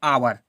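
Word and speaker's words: hour: आवर आ व र तो देखो आवर पढ़ते हैं ये एच साइलेंट रहता है ना ठीक है ये एच साइलेंट रहता है एच को हमें उच्चारण में नहीं बोलना है अगर एज को बोलोगे तो ये गलत हो जाएगा तो इसे हम क्या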